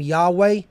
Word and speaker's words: Yahweh: another H so YHVH gives us the name Yahweh if we transliterate it okay and that is